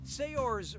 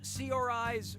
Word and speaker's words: Saoirse: yeah sure you do how do you pronounce her name Saoirse Ronan Saoirse Ronan say yours Ronan or see our eyes Ronan okay who chose what fair will Felicia Saoirse says that's the correct way to say her name now when you run